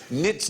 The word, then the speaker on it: knits: Good evening and welcome to QA where tonight the K is silent as in knits knots knackers and knobs.